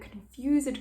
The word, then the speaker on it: confused: make such fearful and confused cries so that ed needs to be pronounced for confused as any mortal body